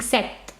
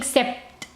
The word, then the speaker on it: sept: a silent P okay imagine as if there is no P and you're saying set set okay you're saying set